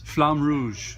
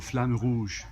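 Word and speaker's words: Flamme Rouge: do I pronounce this flam Rouge that's what I would summarize it looks really cool if you're pretentious you can say roll your R you'll flan woosh but from stronghold games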